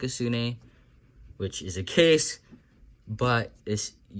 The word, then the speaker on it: sune: Now that sequence of moves is called a sune in speed cubing. It's not S-O-O-N-A-W, which is how it's pronounced, but S-U-N-U.